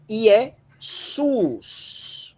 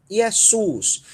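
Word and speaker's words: Ἰησοῦς: Mas o ditongo ômicron Y, ele vai ser pronunciado só como U, como é o caso IESUS. IESUS.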